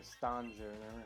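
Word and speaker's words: Stonjourner: Or Stone Journer, however it's pronounced. I say Stone just because all they're really missing is the E out of it.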